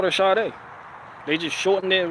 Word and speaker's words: Sade: But not Sade. Sade. She pronounced her name like, I was like, oh shit, yeah, because she Nigerian.